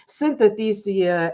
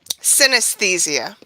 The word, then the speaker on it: synesthesia: dirty sorry disorders substance use disorders and addiction synthethia and tourette syndrome all of those synesthesia is how you pronounce that last one thank you appreciate it